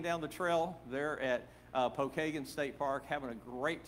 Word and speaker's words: Pokagon: It's spelled Pokagon, but all the locals call it Pokagon.